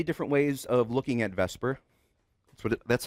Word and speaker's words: VSEPR: ways of looking at Vesper so that's how it's pronounced I was teasing before the quiz it's written VSEPR and pronounced Vesper which is not literally